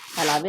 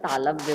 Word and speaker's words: तालव्य: तालाबे नहीं बोलते हैं बेटा, तालव्य बोलते हैं।